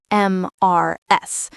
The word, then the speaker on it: Mrs.: We don't say the letters M R S. No, we say it as one sound.